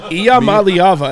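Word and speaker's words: Iamaleava: have you been drinking IAM malava is how you say it malava and I think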